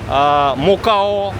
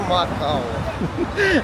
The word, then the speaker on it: Macau: Международное обозначение MOP мокао подтака.